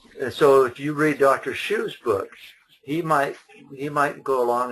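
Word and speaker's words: Hsu: Shu? Yeah, and Shu is spelled H-S-U, and you can find it on my website.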